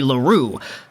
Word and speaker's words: L'Heureux: he is from quebec i'm going to go out there and just say laurel for this video so i don't want to see anybody in the comments saying oh lego you're pronouncing his name wrong it should be larue okay today we're talking